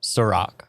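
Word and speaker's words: Cîroc: Real quick, we mispronounced it. It's Ciroc.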